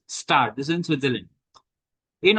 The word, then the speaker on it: Gstaad: This is GSTAAD, but this is pronounced as Star.